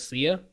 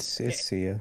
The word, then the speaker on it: Sia: silent I don't hey I'm not SIA its SIA okay I dread it